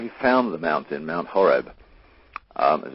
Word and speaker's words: Horeb: o re B and the C was silent so in english translation that it became hor EB but it was pronounced Horeb spelled tribe and in